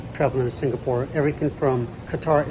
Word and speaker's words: Qatar: to Singapore everything from Qatar Airways which I believe is pronounced cutter Airways all the way down